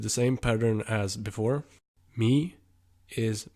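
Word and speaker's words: mig: same pattern as before me is Mei Mei now observant like you are you probably noticed that the pronunciation of the word doesn't really make sense with how it's spelt and it simply has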